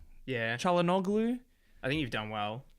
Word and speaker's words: Çalhanoğlu: Çalhanoğlu, I thought was very good.